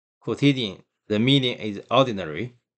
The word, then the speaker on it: quotidian: Quotidian, just a quota. Quotidian, quotidian.